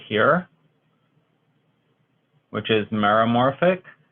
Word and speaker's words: meromorphic: right here which is meromorphic so it sounds kind of like Cola morphic I mean I guess maybe you might consider that it rhymes okay so meromorphic means